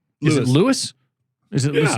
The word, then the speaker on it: Louis: Is it Lewis? Is it Yeah. Lewis?